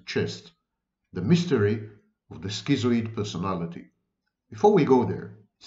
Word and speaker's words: schizoid: and even online, the schizoid personality. I know, Americans should say schizoid, but of course it's the wrong pronunciation of the word.